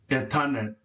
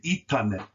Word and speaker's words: etanet: Sometimes you will see it for spelled with the I when most people are writing, but this is the proper spelling and the proper pronunciation, as the E can take a E or a E sound. So it is also proper to say itanet. Itanet, just like in the word Iza.